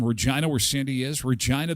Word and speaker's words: Regina: Regina, the city that rhymes with fun.